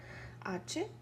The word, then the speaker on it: hospital: So la sílaba tónica in this word is tal, hospital. Hospital en inglés, hospital en español.